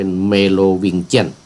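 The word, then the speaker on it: Merovingian: ราชวงศ์ เมรอ แหว่งเชียง เมลอแวงเชียง หรือ ว่า เมโลวิงเจี้น ออก เสียง เป็น เมโลวิงเจียน เพราะ คน นี้ ออก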